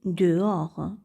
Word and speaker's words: dehors: dire je sors dehors ici le H ne se prononce pas on dit dehors c'est à dire à